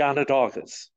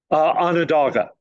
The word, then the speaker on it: Onondaga: It never made it to the Onondagas.